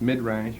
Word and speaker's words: midrash: midrash, another verb that concerns exposition, that we pronounce midrash or the midrash.